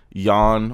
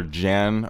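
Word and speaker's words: Jann: in the movie there's this kid Jan or Jen however you want to pronounce it I believe it's yawn in the movie Eon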